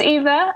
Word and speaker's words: YVA: Keep an eye on her socials, which is Eva Official on Twitter and Eva_music on Instagram, and she's also on Facebook. And just a little note, Eva is spelt YVA.